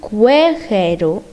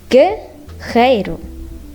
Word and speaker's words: guerreiro: For example, guerreiro. It's not guerreiro, it's guerreiro, because you skip over the U and go straight to the E.